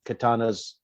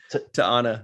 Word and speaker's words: T'Ana: try to get on Katana's good side, right? Or did I say it right? T'Ana. T'Ana. Yeah. I always say Katana.